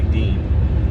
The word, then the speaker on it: Dion: he's irish american but it looks like it's spelled spell dion like d-i-o-n with this they say dean uh who else am